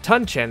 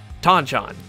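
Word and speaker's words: Ton-chan: bring him up because you'd think it'd be pronounced tanchen in the stuff like the English word ton but nope it's tanchon some things never change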